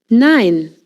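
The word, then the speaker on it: nein: Nine. No. E I sounds like I in English. Think of the number nine.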